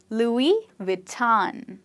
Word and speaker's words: Louis Vuitton: Louis Vuitton. And make sure when you say the V, you bite your lip and you don't say W, but you say V.